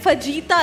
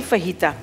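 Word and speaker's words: fajita: अच्छा फहीता एक तो पहले, क्योंकि पिज्जा मिलता है लोग कहते हैं फजीता ला दें, फजीता कुछ नहीं होता, वो साउंड होता है, साइलेंट होता है वो।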